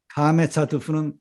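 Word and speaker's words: קָמָץ חָטוּף: 그런데 발음은 카메차트프는 어떻게 나와요? 오 단모음이라고 그랬습니다. 단모음. 오 단모음이죠.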